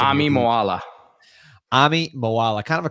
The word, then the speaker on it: Moala: Like, give us the pronunciation. Ami Moala.